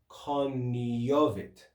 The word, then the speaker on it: cognovit: And you can also pronounce this in ecclesiastical Latin, the GN, instead of saying cognovit, you can change that to coniovit.